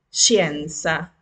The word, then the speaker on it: scienza: Ejemplo, share, scienza, sciopero. Escuchen que no estoy pronunciando nunca la E delante.